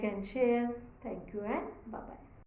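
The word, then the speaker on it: Schaf: how it sounds that way we have to pronounce it it is like CH and so then sheep sheep is Shar s c h a f Shar goat is Seeker again the same thing we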